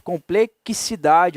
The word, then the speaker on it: complexidade: mais do que isso o X tem som de s aqui não ele tem som de KS na verdade complexidade o Caio é ser